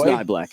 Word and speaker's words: Niblack: I don't know how to pronounce his last name. It is Niblack, yeah.